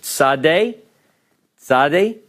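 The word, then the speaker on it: צדי: form alright we have the Hebrew letter Sade Sade it has the English approximation of TS as in nets are let's and then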